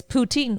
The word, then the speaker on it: poutine: throughout the world it's petite oh yes it's poutine on the ritz and um often mispronounced yes i know it's also close to